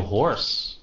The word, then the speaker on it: hoarse: Is still hoarse. Các bạn biết chữ này không? Your voice is still hoarse. Cái chữ hoarse này á, với cái chữ horse này nó phát âm giống nhau.